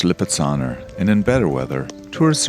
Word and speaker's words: Lipizzaner: It's pronounced Lipizzaner, and in better weather,